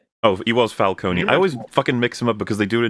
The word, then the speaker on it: Falcone: Because it's Falcone and in the Batman, right? First. Yes. Yeah. Or Falconee. Falone. Yeah, because they've done falcone and falconee the pronunciations.